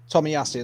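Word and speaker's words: Tomiyasu: give it to you again is it Tak Tommy yasu Tommy yasu that's it sorry um so yeah there's there's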